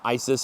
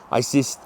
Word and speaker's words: Isis: Uh same thing the goddess Isis. It was like east and they added the cis on the end. Isis the Greeks always change things.